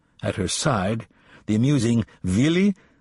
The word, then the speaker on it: Willy: At her side, the amusing Willy, W, pronounced V, Kappler, the silliest-looking man,